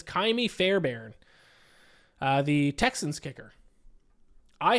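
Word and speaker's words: Ka'imi: It is I can never pronounce his first name. Kaimi. I think it's Kaimi Fairbairn, the Texans kicker.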